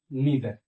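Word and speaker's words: neither: वो है each, ईदर, ईदर और नीदर। इसको आइदर और नाइदर भी पढ़ते हैं, तो आप जो पढ़ना चाहें आप पढ़ सकते हैं। दोनों प्रोनाउंसिएशन इसका जो है सही है, ठीक है।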